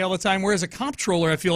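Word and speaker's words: comptroller: you know cash registers comp troller feels a little more uh folksy in Old School it does controller feels new I say controller you do yeah I do too because I try to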